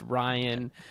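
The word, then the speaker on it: Rayan: And then it was for Ryan, and it was spelled like R-A-Y-A-N, but then it was pronounced Ryan.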